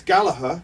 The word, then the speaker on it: Gallagher: Well, it's Gallagher. Yeah. But as we were Mancunians, Mancunians always pronounce the hard G. Hard G. Okay. Yeah, so it's Gallagher.